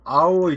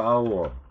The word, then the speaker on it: hour: 자, even though hour start with consonant, it sounds as what? Vowel. H가 silent words죠. 묵음이죠? 발음이 안 되기 때문에 이것은 모음으로 취급을 해서 언이 나옵니다.